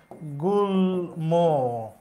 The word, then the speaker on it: গুল্ম: আমি যদি লিখি এই রকম তাহলে উচ্চারণ হবে গুল্ম, তার মানে লয়ের সাথে ম আছে, উচ্চারিত হবে।